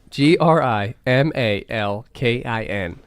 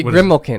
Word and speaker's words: Grimalkin: okay yeah sir GRI mal ki n Grimalkin or maybe grimille kin if you're saying it fast what does it mean